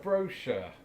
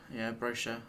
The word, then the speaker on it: brochure: For sure, brochure. Yeah, brochure. I'd say that. Because the CH is like a Sounds like a SH.